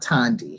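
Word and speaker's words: Thandi: was reading the book I was pronouncing it funny but I watched that video that I posted of Nicole then it's and speaking at the bookstore revolution books and she pronounces it Tandy so that's why I now they Tandy with confidence anybody questions I think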